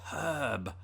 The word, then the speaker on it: herb: word age as H we put an H on the word h which there isn't one actually weirdly enough this is getting all confusing but it's herb herb although we don't pronounce the r in in herb as Brits either unless you're from the